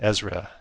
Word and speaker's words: Ezra: Ezra. I think that's it. Yeah, it is. How do you spell that?